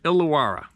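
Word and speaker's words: Illawarra: I live in the pronounced like killer War but drop the K illawara all right ilawara region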